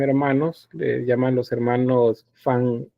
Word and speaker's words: Van: Eh, esos son dos pintores, son hermanos, les llaman los hermanos Fan A. Yo sé que ustedes dicen B, dicen B, pero la B se pronuncia como una FB. F es fan, algo así, Van.